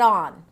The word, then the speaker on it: entrepreneur: The first syllable is on. On. Like, turn it on. On. So, don't be deceived by the e here.